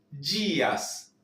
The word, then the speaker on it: dias: la U, todos, os dias, esa D, como se pronuncia como una D y una Y, al leerlo rápido pareciera que ni siquiera fuera una D, una Y directamente.